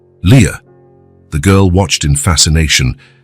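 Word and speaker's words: Lia: This is your name, he explained, pointing at each letter as he pronounced them. L I A. Leah.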